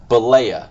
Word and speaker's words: Bollea: Terry Boella? Do we figure out how to say it? Bollea.